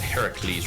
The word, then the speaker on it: Heracles: it wrong is uh the correct pronunciation of Heracles, right? Mhm. Imagine any other word having that kind of spelling pronounced the same way, meaning a man would have testicles.